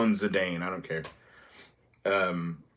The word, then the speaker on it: Zidane: think I call him zidane I don't care um but the Japanese pronunciation is zadon but Zidane um and Vivian zidane